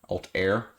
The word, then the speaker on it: Altair: away um it's called altar altar alt air alt air i guess that's how you pronounce it a-l-t-a-i-r and this of course